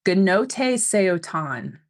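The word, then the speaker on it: Gnothi seauton: Gnote Seotan is how Google has told me to pronounce this, and its meaning is know thyself.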